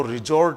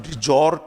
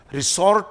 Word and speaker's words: resort: बहुत अच्छा शब्द है सेरेनिटी भी, और इसका उच्चारण रिजॉर्ट है, रिसॉर्ट नहीं बोले, क्योंकि बहुत सी जगह मैंने इसको रिसॉर्ट लिखा हुआ देखा है। ये रिजॉर्ट है।